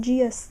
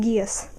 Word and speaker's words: Geass: from code geass i some people pronounce it Jesus yes I call it Gaius so c2 from Code